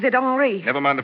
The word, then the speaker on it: Henri: This is Henri Vibbard. He pronounces it Henri.